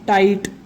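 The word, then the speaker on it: tight: लाइट, हो जाएगा माइट, और ये हो जाएगा टाइट। GH को हमेशा साइलेंट रखेंगे और आखिरी वाला पढ़ेंगे।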